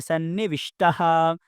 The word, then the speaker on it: सन्निविष्टः: जब मैंने पहली बार उच्चारण किया तो मैंने सन्निविष्टः और वेद्यः कहा। दूसरी बार में सन्निविष्टो एवं वेद्यो, आप दोनों कह सकते हैं।